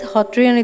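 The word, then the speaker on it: Sattriya: The classical dance form of Assam is the Satriya Nitya, pronounced as Hatriya Nitya in Assamese, which represents the Satriya culture, the basis of the religious and cultural fabric of Assam.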